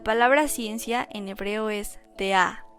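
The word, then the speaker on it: דעה: Después, la palabra ciencia en hebreo es de'a, con acento en la A, que significa conocimiento o sabiduría.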